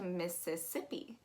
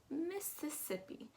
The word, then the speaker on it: Mississippi: lot of syllables um that first i is an e that second i is